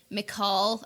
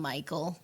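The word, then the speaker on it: Mical: is actually the disciple i think his name is pronounced uh mccall i call him michael but i think that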